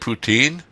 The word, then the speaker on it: poutine: to know uh what's the secret to Great poutin am I pronouncing on right yeah poutin ptin what's the secret to Great poutine brown brown gravy salt and real cheese curds